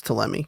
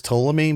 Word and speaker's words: Ptolemy: I think it's Teleme. I think the P is silent. I thought it was Ptolemy, but Sure, please correct me, Daddy.